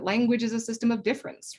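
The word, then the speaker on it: différance: have to say that it should never be pronounced difference dareda intended difference to be said identical to the French word difference which is also pronounced difference and you can see that the difference here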